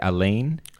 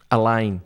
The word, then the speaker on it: Alain: your first name wrong is Elaine a line a line I was a French name okay yeah I was